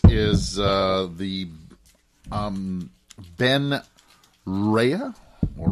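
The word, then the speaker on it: Ryé: uh the um Ben rehea or Reay I don't know the way I would say that with the accent on the E is Ray I I I remember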